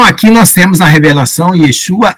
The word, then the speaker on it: Yeshua: Então aqui nós temos a revelação, Yeshua é a pronúncia hebraica do nome Jesus, né?